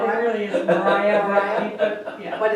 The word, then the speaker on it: Maria Street: Mariah. Mariah. I hear Maria. Yeah. Because they synagogues there, I think, that's Mariah. Oh, Mariah. Yeah, they call it really is Mariah. Mariah? Yeah. But it's spelled Maria?